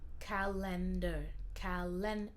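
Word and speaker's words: calendar: rendez-vous dans mon calendrier dans ce mot là le en c'est important ici ça se prononce comme N carlinder et aussi AR à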